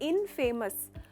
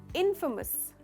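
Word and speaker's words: infamous: टुकड़े कैसे करते हैं, इनफेमस। इनफेमस कहते हैं, पर इसका करेक्ट प्रोनाउंसिएशन है इनफेमस। इनफेमस। तो फे नहीं है, फ का साउंड है, इनफेमस। इसमें आप स्ट्रेस करते हो इन पर।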